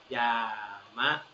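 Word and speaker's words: 山: ภู เขา นะ ครับ ยามะ อ่าน ว่า ยามะ นะ ครับ ยมะ กะ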